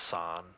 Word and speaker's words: Saint: It's pronounced San, I know, but it's spelled Saint.